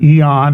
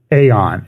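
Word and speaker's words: Aeon: how it's spelled and there's always a big controversy is a e dark Eon or doc dark Aon and he always says well it's not e it's not asops fables it's esops fables and it's spelled sort of the same way so that's how which is kind of a logical way to approach it and he has a website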